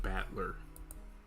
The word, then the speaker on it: Battler: it's that's yeah okay that is battler i'm not even gonna pretend like i know how to say it like that is made up of characters for fight in person and it's pronounced battler it all together and you